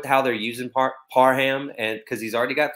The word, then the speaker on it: Parham: Donald Parham. I don't know how to say it. Okay. Parham. He put it on Twitter. Parham. You're welcome.